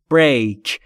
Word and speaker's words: break: و تلفظ break دوستان break نیست، break.